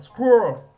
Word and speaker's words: squirrel: C'est une syllabe, squirrel.